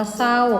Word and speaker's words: เศร้า: นะ คะ คำ ว่า เศร้า กับ ผม ว่า สร้อย ไม่ ต้อง ออก เสียง ร เรือ นะ คะ พอ ดี